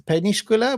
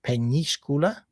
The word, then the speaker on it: Peñíscola: Uh so, it's spelled with an ñ, um Peñíscola.